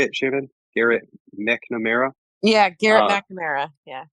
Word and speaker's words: Garrett McNamara: Garrett McNamara.